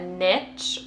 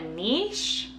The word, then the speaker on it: niche: gonna be talking about finding a niche or a niche um i spent a lot of time trying to figure out how to pronounce this word and actually both are correct so um before i